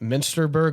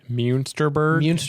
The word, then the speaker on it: Munster: So, should be a really great time if you want to come to the uh was it Minster Plaza? Munster. Munster.